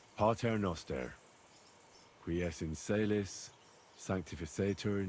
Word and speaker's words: Pater noster: Aye, but it's Latin, so pater no advent... Your turn. You're saying it wrong. Listen. It goes like this. Pater noster, qui es in celis, sanctificetur nomen tuum.